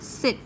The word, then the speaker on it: sit: Ok, các lưu ý cái này của cô sẽ đọc là seat y dài nhá. Và cái này của cô sẽ đọc là sit y ngắn, được chưa?